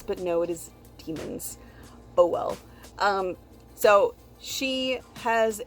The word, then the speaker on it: daemons: I did not think that was how they were pronounced because it's spelled like D, the A-E that are connected, M-O-N, so I thought it was daemons, but no, it is demons.